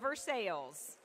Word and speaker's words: Versailles: and Irish Acres of Versailles. And for those of you not from Kentucky, we did not pronounce that wrong. It is Versailles, not Versailles, here in the great Commonwealth.